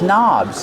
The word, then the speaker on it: knob: These towels are hanging from these knobs. These are called knobs. The word knob has a silent K on it. Don't pronounce the K. Start with the N sound.